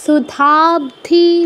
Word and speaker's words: সুধাব্ধি: না মধে সুধাবধি সুধাব্ধি ধ এর পরে একটা ব একটা ধি আছে না ব অর্ধেক সুধাবধি বল সুধা মানিডার পরে